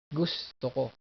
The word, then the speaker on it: gusto: I like or I want is also gusto ko. So I like, I want. So the accent is here. Gusto ko. Not gusto ko. That's wrong. Gusto ko.